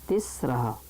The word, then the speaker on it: तिस्रः: इसमें ये सा में रा लगा हुआ है, तिस्रः। तो तिस्रा ना नहीं बोलना है, तिस्रः, सा में रा लगा हुआ है।